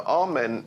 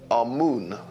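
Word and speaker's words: Amun: important deities was amen now amen is the pronunciation that the Hebrews give it and some Scholars agree to use that pronunciation ation amoon is the pronunciation given to it by one of the old European scholars plutar in the language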